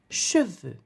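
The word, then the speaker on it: cheveux: in french is le chaves you do not pronounce the x at the end of the word can you say that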